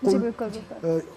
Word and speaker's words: قل: یعنی اگر آپ نے ایک لفظ صحیح, جیسے ایک قل قرآن کا لفظ ہے, قل موٹی قاف جس کو ہم کہتے ہیں اردو میں, 2 نقطے والی, اس سے ادا کرتے اس کو ذرا موٹا کر کے پڑھتے ہیں.